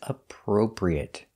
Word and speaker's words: appropriate: next word is appropriate this word is difficult to pronounce because you have the per sound two times a pro pre it so practice this one slowly a pro pre it appropriate appropriate it is appropriate it is good